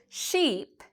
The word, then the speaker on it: sheep: So if I say sheep, my mouth really gets big.